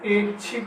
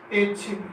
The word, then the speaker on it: ऐच्छिक: ऐच्छिक, दोस्तों यहाँ ए लघु नहीं आएगा, यहाँ पर दीर्घ ए हो जाएगा और यहाँ हो जाएगा ऐच्छिक। क्या हो जाएगा? ऐच्छिक। यहाँ बड़ी मात्रा आएगी ए के अंदर और यहाँ छोटी मात्रा वाला ये अशुद्ध रूप है और ये इसका शुद्ध रूप है।